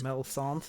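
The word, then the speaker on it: Melisande: So there's Melisand. Melisandre. Melisand. M E L I S A N D E. Melisand. Yeah. Melon. Okay. Usually it's like Mel Sombre, but not Mel. No, no, there's no re on the end.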